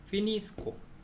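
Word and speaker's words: finisco: 넣어 주는 거죠 그래서 피니스코 미니 피니스코 그 다음에 또인데 sc를 넣어줘가지고 피니쉬 근데 아까 위에 sco 할 때는 스코어라고 읽고 sci라고 일 때는 쉬라고 읽죠 제가 발음 공부할 때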